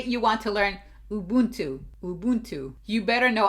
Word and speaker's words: Ubuntu: want to learn Ubuntu Ubuntu you better know I looked up how to pronounce Ubuntu Ubuntu Ubuntu Ubuntu U Ubuntu Ubuntu I keep saying Ubuntu